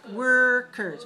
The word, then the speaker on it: workers: When you look in the mirror, say workers, workers, workers, workers, workers, workers. Okay, so your lips should be the same for the 2 syllables. One has O-R, one has E-R, but both of them are er.